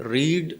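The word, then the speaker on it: read: लग रहा है, लेकिन रीड की तीनों फॉर्म एक जैसी हैं, इनका उच्चारण का फर्क है, ठीक है। रीड, रेड, रेड, तो 3rd फॉर्म है, इसलिए हमने इसे रेड पढ़ा है, ठीक है।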